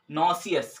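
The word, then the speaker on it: nauseous: बाद से 10वां जो है हमारा क्या है नो सी एस क्या है हमारा दसवां जो है ये नो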